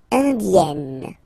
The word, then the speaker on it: indienne: Indienne. So remember this E double N. You open it.